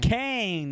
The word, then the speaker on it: Cohen: To Ethan Cohen, number 2 on pronounced Kane.